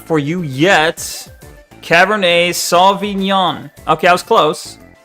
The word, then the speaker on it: Cabernet: The tea is silent because I think it's French. Damn. Wrong spelling. My bad. It's supposed to be Cabernet.